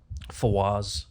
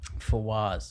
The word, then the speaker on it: Fawaz: Fawaz. Fawaz. Go ahead and spell it.